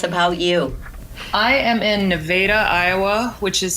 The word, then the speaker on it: Nevada: you I am in Nevada Iowa which is spelled like Nevada but we pronounce it wrong it's nothing like the other Nevada and certainly nothing like